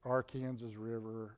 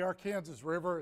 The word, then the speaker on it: Arkansas: By the way, Cynthia, it's the Arkansas River. As you talk to people out in the rest of the country, they occasionally mispronounce that word. I just want to be clear. This is the Arkansas River.